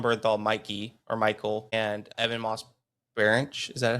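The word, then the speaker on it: Ebon Moss-Bachrach: There was They released one episode of John Bernthal, Mikey or Michael, and Evan Moss Bar. Is that how you pronounce his name? Evan Moss Barack.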